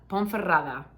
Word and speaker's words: Ponferrada: but this is where you can make that ponferrada 13 is I keep saying I love all